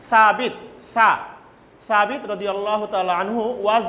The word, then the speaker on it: Thabit: Student, this will be Tawid, but the Arabic pronunciation is Thabit.